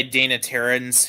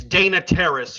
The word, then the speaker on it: Dana Terrace: It It's created by Dana Terren, who also created the Owl House. It's Dana Terrace. You got the name wrong.